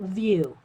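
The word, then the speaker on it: Wiuff: Sawtooth View. Even though it's spelled W-I-U-F-F, it's pronounced V-I-E-W.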